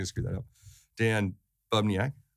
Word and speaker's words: Bubniak: Dan Bubniak, right?